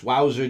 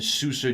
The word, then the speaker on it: Souza: Tampa Bay Ray Stevens wowser junior or Steven Souza jr. depending on how you pronounce that Z he's been you know